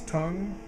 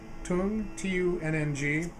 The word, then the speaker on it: Tunng: And it's, I want to make sure I pronounce it right. It's Tunng, Tunng.